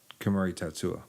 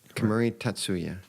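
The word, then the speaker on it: Kemuri Tatsu-ya: right now um I know we said the Camry Tetsuo yeah is that pronounced right Camry tatsuya yeah see yeah cool business so next time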